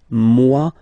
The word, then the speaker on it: moi: So remember this OE combination give you the sound wa wa wa, moi, okay?